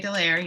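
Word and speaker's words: de Leyer: Am I pronouncing it right, Dallaire? That's right, Harry Dallaire.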